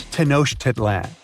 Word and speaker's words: Tenochtitlan: It's Tenochtitlan. And Mayan cities are hard to pronounce too.